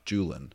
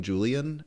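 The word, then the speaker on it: Juilin: episodes I think you were right on the pronunciation of the the Terran thief's catcher jewel and jewel and sand are julen yeah and I think I started saying Julian yeah in my head you know when I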